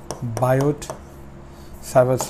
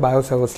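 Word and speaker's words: Biot–Savart: हैं उसका नाम है बायोट सवस लॉ करेक्ट सवस लॉ यह बहुत ही इंपॉर्टेंट लॉ है इसमें टी हम जनरली इसको साइलेंट प्रोनाउंस करते हैं बायो सवस लॉ अगर पूरे चैप्टर की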